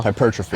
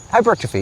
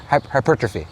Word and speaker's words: hypertrophy: than uh exercise specific like curls you know hypertrophone hypertrophy because I don't know if you know how to pronounce that word hypertrophy yeah hypertrophy okay yeah you got it your stubbornness led